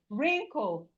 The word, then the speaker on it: wrinkle: We have wrinkle, wrinkle. The W in wrinkle is silent.